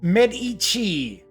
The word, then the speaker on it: Medici: So it's Medici. Thank you, Kabuki Kid. Kabuki Kid seems to be my pronunciation guide.